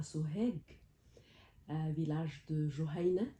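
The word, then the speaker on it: Juhayna: à soeg village de Jain comme il aimait le prononcer h parfois il il le prononçait avec l'accent de la Haute Égypte Guina HM ça se prononçait comme ça euh oui en haut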